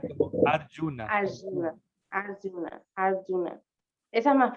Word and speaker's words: Arjuna: Como no se pronuncia como Arjuna, sino que como Arjona, el Arjuna. cantante, sino que se pronuncia como Arjuna. Arjuna, Arjuna, Arjuna.